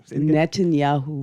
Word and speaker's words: Netanyahu: wish I didn't know how to say Benjamin Netanyahu net Netanyahu yes you speak all kind of foreign language